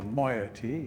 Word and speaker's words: moiety: Before Katherine appeared, the moyotee, as they call themselves, I'm glad I was pronouncing it right this whole time.